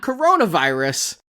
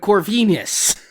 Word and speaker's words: Corvinus: have a common ancestor named not coronavirus, but Corvinus. If you spell it out, it looks similar.